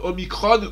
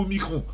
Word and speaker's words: Omicron: Omicron se prononce Omicron ou Omicron. Omicron étant plutôt grec ancien et Omicron alphabet récent. Enfin, surtout utilisé dans les sciences.